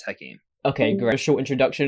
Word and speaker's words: Hakim: Tonight, is that how you pronounce it? Sorry. It's Hakim.